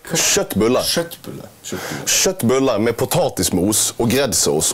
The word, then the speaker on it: Köttbullar: How are they pronounced correctly? Köttbullar.